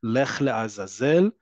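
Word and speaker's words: לך לעזאזל: I'm saying it, it's to a male lech la azazel, to a female lechi la azazel. Okay? That's how you say it.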